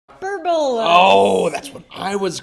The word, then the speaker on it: hyperbola: h a good uh hyperbola is actually the way you pronounce it but I mean it's a fun one to to mispronounce hyperbola it's not a hyperbole either no that's like one